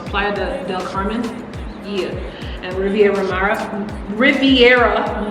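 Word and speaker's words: Playa del Carmen: city so like planned is it playa or playoff no it's playa de del carmen yeah and riviera ramara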